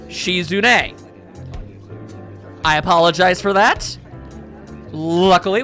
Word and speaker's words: Shizune: I have been saying this young lady's name wrong this whole time. It is, in fact, Shizune. Not Shizune, Shizune.